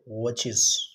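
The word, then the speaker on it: watches: जीअं लफ़्ज़ आहे वॉच त असां उनखे पढ़ंदा आहियूं वॉच, लेकिन इनखे पढ़बो वॉचिस।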